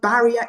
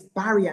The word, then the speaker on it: barrier: The pronunciation of the word barrier is barrier, not barrier, because it's a short I sound.